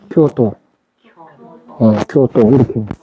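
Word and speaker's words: 京都: 경도부 그러는데 발음은 교토로 한단 말이에요. 왜냐하면 경이 쿄예요. 경이 서울경자. 그러니까 동은 도로 발음한단 말이에요. 동은. 그래서 교토 이렇게 되는 거죠.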